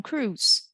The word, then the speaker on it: cruise: Eu não pronuncio a letra I. Cruise, Tom Cruise.